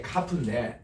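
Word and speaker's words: כף: 10이기 때문에 그 다음 이제 요드 그 다음 나온 게 카프인데 따라합시다. 카프는 이 K입니다. 그냥 K 혹은 KH예요.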